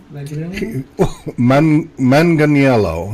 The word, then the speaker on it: Manganiello: Manganiello is what it looks like.